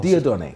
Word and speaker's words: Dieudonne: name yeah my name is quite difficult to pronounce de Don de Don yes okay good so you have